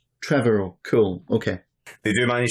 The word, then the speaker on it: Trevorrow: Trevorrow. Trevorrow.